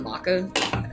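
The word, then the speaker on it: Macha: How do you spell Maka? I just spell it wrong. M-A-C-H-A. M-A-C. Oh, I did spell it right. It's like matcha, but not. It is. Matcha has a T.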